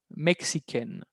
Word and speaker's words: mexicaine: Ahí, al agregar una E, hay un cambio de pronunciación y se vuelve mexican.